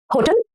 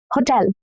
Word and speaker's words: Hotel: Now, this one is crucial because stressing the wrong part, laying the stress on ho instead of tel, the second half of the word.